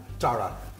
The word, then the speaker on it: Darla: it too me too Darla rhymes with Tara very pretty name beautiful